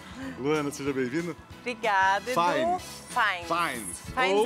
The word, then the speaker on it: Fiennes: Fines é a pronúncia certa. E do jeito que o pessoal costuma te chamar? O jeito que o pessoal fala é Fienes.